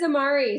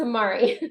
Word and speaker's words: Amare: And I said, no, it's Amare. Amare is actually a Latin word and it means to love.